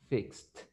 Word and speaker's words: fixed: so if you check fix in the present is with x in the past the pronunciation fixed yes so with these sounds the E is going to be pronounced like T now with other sounds